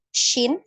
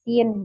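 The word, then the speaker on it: ش: di huruf Arab ya syin ya maka mungkin eah ini di ditulisnya kalau di tulisan Indonesia jadi Sinin gitu ya tapi kita enggak bacanya Sin tapi syin ya detakkan Tengah lidah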